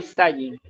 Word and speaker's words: Zayin: La letra Sayin, para los que están allí en Meet, pueden ver la letra, la forma como se escribe, y se pronuncia así, Sayin.